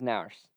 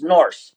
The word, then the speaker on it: Nourse: And tonight we have Nourse from Montana Western. Coach, how are you doing tonight? We're doing great. Perfect. And I did get that last name right, correct? It is Nourse. It's Norse. Nourse.